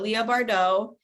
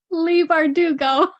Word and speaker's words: Leigh Bardugo: Bone series by uh Leah Bardot I absolutely love her did I say it wrong did I say it wrong what is it Leigh bardugo so confident guess you